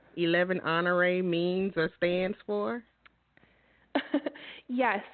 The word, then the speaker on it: Honoré: what we Nam after I knew it was French that's why I could pronounce it correctly because I'm from Louisiana and there are people here in Louisiana that has the last name honor so that's how I